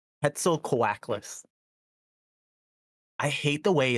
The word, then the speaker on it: Quetzalcoatlus: I have to Google how to pronounce it again. Quetzalcoatlus. Oh, what? Yeah, that's the name of that dinosaur. Quetzalcoatlus? Quetzalcoatlus. Quetzalcoatlus.